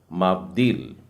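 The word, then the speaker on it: מַבְדִּיל: होगा और ये है मेम में आ की मात्रा, उसके बाद में वेत, फिर उसके बाद में है दालेथ और उसमें बीच में बिंदु डलिए, मतलब द का उच्चारण 2 बार आ रहा है, आधा द और पूरा द, ई की मात्रा के साथ नीचे एक डॉट डला है। उसके बाद में योद है और फिर है लामेद, तो उच्चारण हो जाएगा माब्दील। मैं इसे लिख के भी बता दूं, माब्दील।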